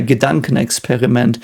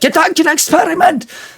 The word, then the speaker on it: Gedankenexperiment: And again, in German, we could say a Gedankenexperiment, which does not say at all like Gedankenexperiment, like what you would probably hear in the media, like the pronunciation of it.